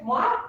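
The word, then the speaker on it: Moivre: Uno es Moir, que lo pronuncian en francés, Goldberg, Maycamp y Weibull.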